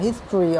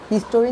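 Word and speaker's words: history: দেখো, ইট ইজ the more significant than any other event in দ্য হিস্ট্রি of Bangladesh. In দ্য হিস্ট্রি উচ্চারণটা হবে হিস্টোরি না, হিস্ট্রি।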